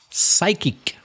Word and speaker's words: psychic: A psychic.